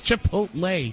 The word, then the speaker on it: Chipotle: Did I mispronounce that? Chicote from Star Trek. Chipotle? It's Chipotle.